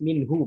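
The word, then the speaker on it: منه: Terkadang sebagian kita malah menghilangkan ha. Min. Haknya kemana? Nah, kenapa jadi hilang? Karena memang hak ini sifatnya huruf tipis ya. Sifatnya adalah tipis. Terkadang huruf tipis ini suka terkorbankan ya. Ya, terkorbankan sehingga tidak terucap dengan sempurna.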